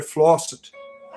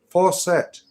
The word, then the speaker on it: faucet: See, I was introduced, for instance, to the idea of a water flosset. And my my wife's like, "It's not how you say it. It's faucet."